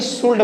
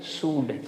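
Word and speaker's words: should: यहाँ बहुत सारे बच्चे सुल्ड बोलते हैं, सुल्ड, ये गलत है, यानी कि एन को हमको प्रोनाउंसिएट नहीं करना, तो क्या बोलेंगे इसको, सूड, सूड।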